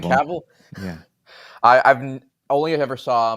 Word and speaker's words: Cavill: Yeah, I forgot about Henry Cable. I hate how you said that name. Is it? I've never. I pronounced it completely wrong. Is it Cavill?